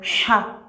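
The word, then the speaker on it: ح: Donc, il ne faut jamais confondre la lettre Ha et la lettre A. Il y a A ici, mais ici c'est Ha.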